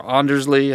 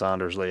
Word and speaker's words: Anders Lee: nelson anders lee or andersley i think it's anders lee actually is the connect anders lee